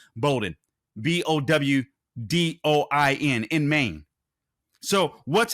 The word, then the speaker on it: Bowdoin: in Maine I believe it's I believe it's pronounced Bowden b-o-w-d-o-i-n in Maine so what's happening here see